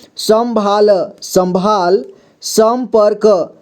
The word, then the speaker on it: संपर्क: है सम भाल संभाल संपर्क संपर्क यहां पर भी ऊपर में र की मात्रा लगा है संपर्क ठीक है संपर्क पढ़ेंगे यहां देखिए संशय